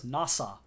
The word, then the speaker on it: Nasa: The story follows a protagonist whose name is written with the characters for Hoshizora, starry sky in Japanese, but whose name is pronounced as Nasa.